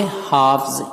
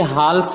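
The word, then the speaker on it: half: या अलमारी, हाफ से हाफ्स, इसे हाल्फ नहीं पढ़ते बल्कि हाफ, L साइलेंट है, तो हाफ से हो जाएगा हाफ्स यानी निस्फ या आधा।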